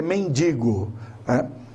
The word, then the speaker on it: mendigo: enem é man digo então a pronúncia correta adequada é mendigo infelizmente nós sabemos que